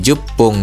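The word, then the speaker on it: じゅっぷん: Nah, pungnya itu agak ditekan ngomongnya ya. Jadi, jup pung gitu ya.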